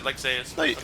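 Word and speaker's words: Lexaeus: the weights that giant ISX lexius okay I don't know how to pronounce that right I said Lexus uh you pronounced his name correctly ear in earlier parts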